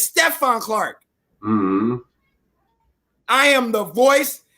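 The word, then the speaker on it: Stephon Clark: stuff on say carts say his name's Dante Clark say no it's Stefan Clark hmm I am the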